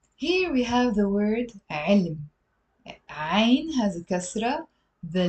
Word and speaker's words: علم: But because it's a one syllable word, we tend to pronounce it as علم. Even native speakers do that. علم, علم.